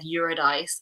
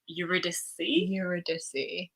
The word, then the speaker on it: Eurydice: to butcher the names we've already said eurodice a million times and it's eurydice euroducy um so yeah i